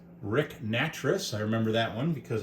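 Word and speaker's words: Nattress: Rick Natric, I remember that one because I thought his name rhymes with mattress if you're saying it that way.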